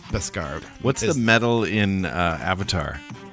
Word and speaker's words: Beskar: I had a 3 or 4 syllable. No, it's Beskar.